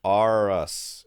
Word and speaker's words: Aras: By the way, Aras is the correct pronunciation.